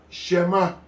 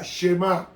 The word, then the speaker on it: Shema: Se pronunciaba esa Shema, o esa Shema.